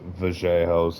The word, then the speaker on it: Vera: I did I mean, as a Vera fan I and I know it's pronounced Vera. I'm not saying it like that right away. Maybe I'll ease my way into that pronunciation.